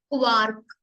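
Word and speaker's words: Quark: break break next है क नॉट क्यू क क्वार्क क्वार्क mean curd and चीज आर को प्रोनाउंस करेंगे एर एर एर ठीक है राउम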